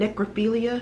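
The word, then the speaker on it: necrophiliac: he was a killer a rapist a cannibal and necrophilia is how you say it who killed six people in sacramento county between 1977 and 1978.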